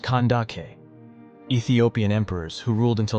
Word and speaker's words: Kandake: In ancient times, Ethiopian queens were commonly named Candace, pronounced Kandake.